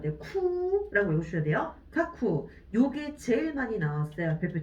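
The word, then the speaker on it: 架空: 쿠라고 읽으셔야 돼요. 카쿠.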